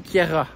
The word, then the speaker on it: Queyras: Fran le franco provenal on prononce pas la fin donc voilà donc vous oubliez tous les mauvaises prononciations que j'ai dû déjà dire quelquesfois et donc nous partons pour le tour du Kiera nous entamons la montée